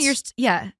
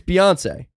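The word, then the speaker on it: Beyoncé: I'm that's kind of like at this point Beyonce. yeah. No, it's Beyonce. Yeah. I'm like, at this point, you're still pronouncing it slightly wrong.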